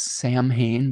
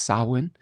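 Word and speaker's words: Samhain: Um, you might see it spelled phonetically as Sam Hayne, but it's pronounced sawin.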